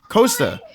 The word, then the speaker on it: Costa: Costa. All right. Now, yeah, Costa, just like Costa Rica.